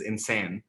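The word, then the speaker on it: إنسان: is my mother tongue, the word human is insan, which comes from what? Insane. Insane. Insane. Insane. Insane. E-I-N-S-A-N, insane. Oh, that's just the pronunciation. Yeah. Oh, okay. Yeah. It's like, is that an American? No, that's how you say it in Arabic.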